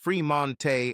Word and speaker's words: Fremont: Now, at 18 years old, Sage had 2 sisters, Age, pronounced Ajay, and Lage, pronounced Lajay Smith, and 2 brothers, Fremont, pronounced Fremonte, and Tremont, pronounced Tremonte Jones.